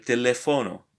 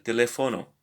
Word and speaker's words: teléfono: So we know where the stress is, so we need to get used to put the accent where it's needed. So el teléfono. El teléfono.